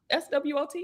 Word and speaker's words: SWOT: texting me about the SWOT, SWOT.